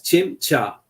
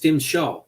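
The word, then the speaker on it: Tzim-Sha: implanted with his victim's teeth identifies himself as Chim cha mispronounced as sha by the doctor of the stenza Warrior Race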